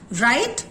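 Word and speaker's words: write: लिजन के अंदर भी टी होते हुए भी टी की साउंड साइलेंट है। राइट, whole, wrong.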